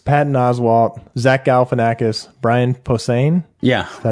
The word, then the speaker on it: Posehn: Patton Oswalt, Zach Galifianakis, Brian Posehn. Yeah. Is that how you pronounce it?